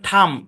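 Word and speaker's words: thumb: ব্যাস একদম সিম্পল শব্দের শেষে এমবি থাকলে বি সাইলেন্ট যেমন দেখেন বম বম বম বম এরকম না বম ঠিক আছে তারপর থাম থাম মানে কি থাম মানে হচ্ছে বৃদ্ধাঙ্গুল এরকম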